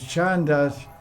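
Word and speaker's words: chandas: the verse was it Chas with shandas ch h n d s by the way shandas was SP with s originally but I didn't pronounce it clearly my see but shandas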